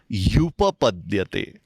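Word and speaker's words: ह्युपपद्यते: युपपद्यते, ये एक ही शब्द ही और उपपद्यते, इन दो शब्दों की संधि से बना है और उच्चारण क्या करेंगे? युपपद्यते।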